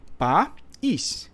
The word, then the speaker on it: país: separa sílabas aqui ó eu não posso ler país né Eu leio pa ISS país então a gente separa